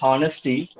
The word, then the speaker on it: honesty: In the word honesty, H is silent.